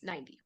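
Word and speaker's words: ninety: pronounce kind the T we can pronounce it kind of more like a d or a Spanish r okay because sometimes like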